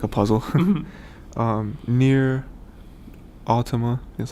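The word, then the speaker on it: NieR:Automata: Nier Automata, that's how you say it.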